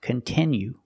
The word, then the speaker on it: continue: content that you like it's not pronounced continue it's pronounced continue we have to use a short sound I like this is we have the letter i which makes the sound I and it's a stress syllable continue we cannot change that sound we cannot say continue we have to use the is sound continue example if you